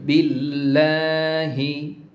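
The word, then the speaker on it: بالله: দেখুন আউ বিল্লাহ বিল্লা এখানে লা বলতে হবে কেন লা বলতে হবে বা নিচে জের এসেছে এখানে দেখুন তো আমরা জানি আল্লাহর নামের আগের অক্ষরে যদি জের আসে বা কাসরা আসে তাহলে আল্লাহর নামের মাঝের অক্ষরটিকে বা আল্লাহর নামের সেকেন্ড অক্ষরটিকে লা পড়তে হয় এই নিয়মটি মনে রাখতে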